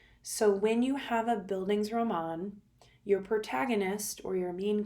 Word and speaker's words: bildungsroman: Google and you do the word thing it's bildungsroman so you are familiar with this type of